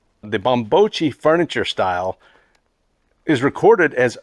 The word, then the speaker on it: Bambocci: here but actually he's right this is actually pronounced mambocci the bombochi furniture style is recorded as early as about